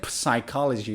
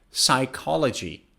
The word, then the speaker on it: psychology: next one is psychology now the first p is silent so you don't say psychology you say psychology i think psychology is